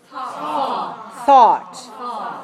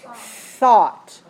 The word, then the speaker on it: thought: my tongue all right remember the tongue th position between the upper and lower teeth make sure you let the air come out this one is voiceless thought thought thought thought I